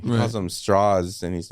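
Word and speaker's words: Strauss: one of the scenes that you're seeing from Straw's point of view IM immediately when he meets him he's he like corrects him on the pronunciation of his name he calls him straws and he's like it's actually pronounced straws you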